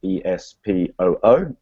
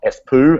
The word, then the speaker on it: Espoo: a place called Espoo, which is spelled E-S-P-O-O. It's not Espoo, as I learned the hard way on the first day, but Espoo.